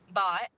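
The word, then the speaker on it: Bhatt: Matima Bot. It's pronounced bot.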